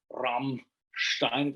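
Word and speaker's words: Rammstein: everybody knows hamstein and the special way that they pronounce like rum shine always looks like typical German way it's uh we don't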